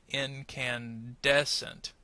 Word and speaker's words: incandescent: So in the first word, incandescent. This is the one you want to make longer. The others we want to make shorter.